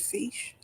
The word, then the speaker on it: fiche: They were recorded on fiche. Is that how you pronounce it, fiche?